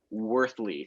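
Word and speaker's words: Wuerthele: much if you can pronounce mike's last name worthly it looks nothing like what it's spelled um just remember just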